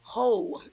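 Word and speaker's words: Heaux: I have a Rihanna ho on and that's spelled h e Au uux guys and in the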